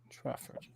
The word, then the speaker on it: Trafford: that's crazy that's insane pronounce traffic Trafford the same way you would pronounce traffic so traffic traffic Trafford Trafford 2005 ashes documentary yeah